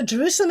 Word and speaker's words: Jerusalem: you've pronounced yerushalayim and jerusalem which is it so jerusalem is how they say in english that's kind of like the english name and yoshilam is in